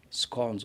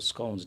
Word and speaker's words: scone: And then we had scones or scones, depends which way you want to pronounce it.